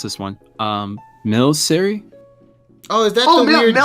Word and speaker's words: Milcery: I don't know how to pronounce this one. Milcery? Oh, is that the weird jelly Pokemon? Melcery, yeah.